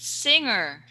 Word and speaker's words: singer: okay and also I want you to repeat singer singer yes that's better singers singers I okay that's the correct pronunciation because a while ago I heard a